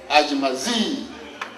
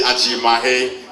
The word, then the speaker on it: Ajimahe: Just a slight correction, the name is actually Ajimahe, just like you pronounce Ajimai in Nakan. You add H-E to sound Ajimahe.